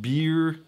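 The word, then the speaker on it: Byrrh: I always call it Burr but it's supposed to be pronounced beer because it's French it's a French aromatized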